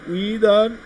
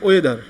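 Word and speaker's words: whether: কারণে আমার উইদার, WACTICR, উইদার, নট ওয়েদার, এটার উচ্চারণটা হবে কিন্তু উইদার।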